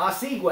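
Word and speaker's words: Osuigwe: Danielle Collins, the 25th seed from the USA, will play Whitney Oswego. Thank you, Arvis, for the pronunciation. I wrote it down. Oswego.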